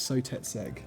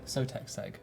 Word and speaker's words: Sotetseg: how to pronounce it properly. It's Sotetseg. Sotetseg.